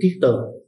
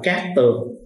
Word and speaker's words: cát tường: giải thích hai chữ kiết tường chữ kiết tường á Có khi đọc là cát tường mà Nghĩa của chữ